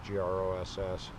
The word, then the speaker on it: Gross: we walked around girls reservoir above Boulder it's gr OSS Ross wasn't Laura but it's pronounced gross gorgeous clear water high mountain reservoir